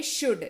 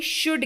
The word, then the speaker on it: should: अगला शब्द है शुड, SHOULD, लेकिन इसको पढ़ते हैं शुड। जी हाँ, एल उच्चारण के वक्त साइलेंट का काम करता है। एल जो है वो साइलेंट रहता है और ये उच्चारण होता है शुड के तौर पर।